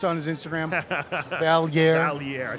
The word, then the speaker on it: Valliere: Iain Valliere, if you don't know how to pronounce it, it's on his Valliere.